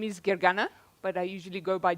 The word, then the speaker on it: Gergana: there let me introduce myself my name is Gary gana but I usually go by because that's a little bit easier to pronounce and I was one of the people